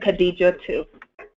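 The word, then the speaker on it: Kadijatou: your name again please Kadija too that's how you pronounce the name Kad Kadija to yep Kadija too that's all one first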